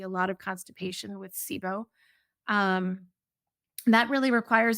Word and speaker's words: SIBO: the body corrects itself um that's pretty common sibo is another one it's kind of a buzz